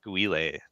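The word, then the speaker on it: Guile: __ ] characters gu I think it's pronounced yes guay that's absolutely correct man I struggled with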